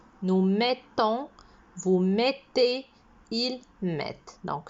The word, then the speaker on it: mettons: mettez il met et ça se voit au niveau de la prononciation on appuie sur le thé nous mettons vous mettez il met